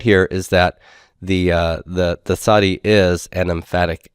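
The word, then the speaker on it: tsade: we have transliterated the sadi as this and we pronounce it as this in our standard pronunciation but but actually it's an S sound with constriction in the throat at the same time slow slow which is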